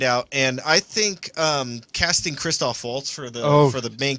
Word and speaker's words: Christoph Waltz: a movie show and you say Christoph bolts why I'm just I yeah you be the thing you look like you almost corrected James it's christoph waltz hey I don't care